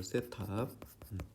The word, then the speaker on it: 세타: 얘랑 이 직선이 이루는 요 각, 요걸 우리가 요거를 세타라고 읽어요. 세타. 각을 나타낼 때 보통 세타. 번데기 발음이죠. 번데기 발음.